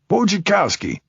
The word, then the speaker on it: Wojciechowski: Wojciechowski. Pronounced like watch your car key.